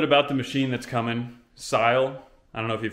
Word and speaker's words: Syil: the machine that's coming sile i don't know if you've heard of it s-y-i-l i think that's pronounced right style or sil i've heard it two ways but it's a cnc